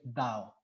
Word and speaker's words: Tao: absoluto en la china se le llama el dao se escribe té de tomate de árbol y o